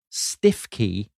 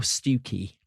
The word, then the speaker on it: Stiffkey: in a Norfolk village called either Stiff Key or Stuki. And opinions on this vary and we will be coming to the big debate on how you pronounce that word uh in due course.